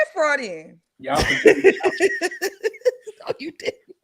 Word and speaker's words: Freudian: No, fraudulent was right, I think. No, it's not. What is Freudian slip. Freudian slip. Right, my bad. I went up. My bad. I said Freudian.